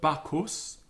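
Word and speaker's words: Bacchus: um in all cases so CH and T H and pH are like K T and P followed by the letter H so bakos um and this is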